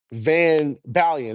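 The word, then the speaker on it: VanBalion: It was a guy named Van Bulan, right? I mean, how do I say his name? Van Balian. That's his name.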